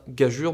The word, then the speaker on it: gageure: gageure alors au passage bien gageure même si ça s'écritageur on dit bien gageure enfin je vous conseille